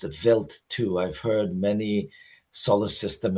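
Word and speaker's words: Wild 2: It's spelled wild, but it's actually pronounced a vilt too. I've heard many solar system ambassador presentations by PhDs and it's pronounced vilt too.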